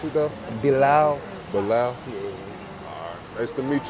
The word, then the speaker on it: Bilal: How you pronounce it though? Bilal.